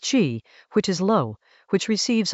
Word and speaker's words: 谿: Chinese letter xi, pronounced qi, which is low, which receives all the runoff